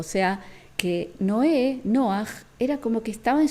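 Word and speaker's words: נח: nombre de Noé porque Cómo se dice no en hebreo se dice noah y ahí lo vemos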